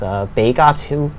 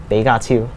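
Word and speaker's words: 比卡超: And so what is the Pikachu, Pikachu in Cantonese is Beigatu. Beigatu.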